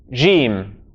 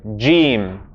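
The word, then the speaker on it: جيم: Jiim is the correct way. Jiim. Jiim. Everyone say the incorrect with me so that we all understand. Jiim. Jiim. Jiim is incorrect. The correct way is Jiim. Jiim. This is it's a stop in kind of linguistic terminology.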